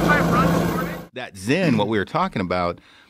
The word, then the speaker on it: Zyn: No, it's this thing called Zyn.